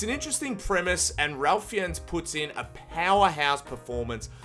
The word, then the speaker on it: Ralph Fiennes: It's Ralph Fiennes. Ralph Fiennes.